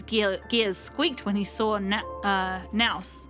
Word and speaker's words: Nous: Even Skrullim's gears squeaked when he saw Nous, or Nos I think is how they pronounce it in this game.